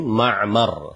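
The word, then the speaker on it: مَعْمَر: Waar bifathil mimain wa sukunil ain ma'mar. Hak ya bacanya seperti itu.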